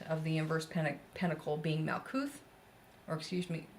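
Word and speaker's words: מלכות: That bottom point of the inverse pentacle being Malkuth, or excuse me, there is no T evidently in Hebrew pronunciation, I guess, but regardless, everybody knows it as Malkuth, so unless they actually speak Hebrew.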